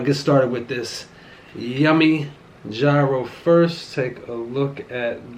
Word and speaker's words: gyro: But I'm gonna get started with this yummy gyro first.